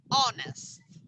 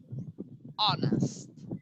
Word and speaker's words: honest: have the age that is silent so the pronunciation is honest honest not modest okay and stop born very very